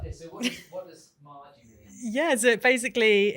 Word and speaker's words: MAJI: Have I pronounced it right? Yeah, MAJI.